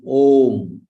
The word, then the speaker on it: Om: in this entire world is OHM that's single syllable word so the first letter